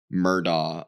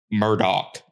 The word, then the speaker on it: Murdaugh: is oh and then they can't even pronounce the last name right either Murdock they're like Murdoch yeah and it's like I'm pretty sure it's been pronounced murder like forever to be fair he